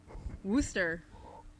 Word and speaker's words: Worcester: I got it cuz I pronounce it wrong it's Worcester booster booster booster he was born in